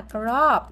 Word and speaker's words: crop: biệt cho các bạn, đó là crop. Như vậy đó là o ngắn crop. O ngắn thì chúng ta đọc giống như âm o của tiếng Việt nhưng ngắn hơn, bật nhanh hơn, crop crop crop.